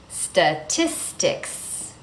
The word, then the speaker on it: statistics: So in this word, we have three clear T's.